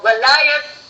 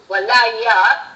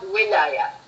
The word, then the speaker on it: walaya: So walayat is walaya, whether it is pronounced with H or T. Walaya with an H is mostly Arabic pronunciation.